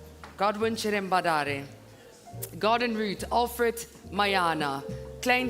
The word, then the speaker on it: Godwin Cherambadare: Godwin Cherambadare.